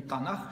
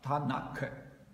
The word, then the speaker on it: Танах: Вообще-то это буква Т. Поэтому не Танах считается по-настоящему, а Танак.